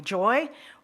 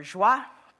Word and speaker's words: Joie: offering people the choice whether you prefer to call me joy or Jah it's totally up to you over 50% of the people choose the French pronunciation but it was one